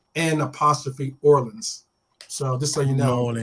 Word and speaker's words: New Orleans: If you're going to go down there, make sure you don't pronounce the EW. It's like N' Orleans.